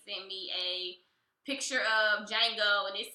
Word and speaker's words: Django: And he texted me on Valentine's Day, and he sent me a picture of Django, and it said, "You gonna get the D tonight." The D is silent, but you gonna get the D tonight.